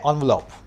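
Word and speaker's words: envelope: देखो इसका जो पहला वाला है ना, इसको बोलते हैं एनवलप, एनवलप, और जो दूसरा वाला है ना, इसको इंग्लिश में बोलते हैं एनवेलप।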